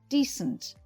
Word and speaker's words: decent: Decent is usually stressed on the first syllable and said like this: decent.